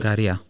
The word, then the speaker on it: Ikaria: The next one is the island of Ikaria. Is that how I pronounce it? Ikaria.